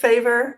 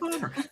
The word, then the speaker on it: Faber: we've been saying it favor and we've been saying it wrong all the time because when we went to Austria we discovered it his father so you're actually correct father I did I did